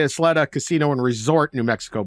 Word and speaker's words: Isleta: L is L yeah so it's not Athleta but it'sa Isleta yeah they make like